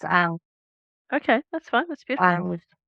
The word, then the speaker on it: Ankh: A Unk? starts with an A. It's Ankh.